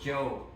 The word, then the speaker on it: Chau: my first name is uh pronounced Joe it's like j o e it's like Spanish it's say okay